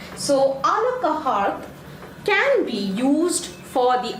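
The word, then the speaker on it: à la carte: This is pronounced as a la carte. Okay, a la carte.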